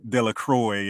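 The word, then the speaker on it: Delacroix: say it correctly and it's because it's a French name it's umin dequa uh or or ugene it looks like Eugene De La Croy if you're from the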